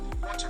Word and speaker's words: water: middle of vowels, then the T is pronounced as a D and the whole word is voiced. This is very easy and you may already be doing this correctly. Here are 3 examples. Water is pronounced Water.